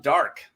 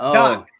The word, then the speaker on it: Daak: So these are alphabetized, and that starts with Absalom Dark. Is that how you say his name? Do you just want to say their names? Absalom Doc. Doc. Not Okay. Doc. It's Doc.